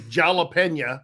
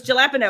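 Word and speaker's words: jalapeño: Excuse me, let me pronounce it correctly. Jalapeno. No, it's jalapeno.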